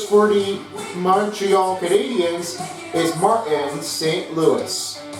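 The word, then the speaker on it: Martin St. Louis: the Montreal Canadians is Martin St Louis Martin St Louis is also a French pronunciation and definitely a Canadian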